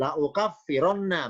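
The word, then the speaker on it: لأُكَفِّرَنَّ: Contoh lain tetap Ali Imran 195 la ukaffiranna, bacanya lau lamnya fathah hamzah doma, la ukaffiranna.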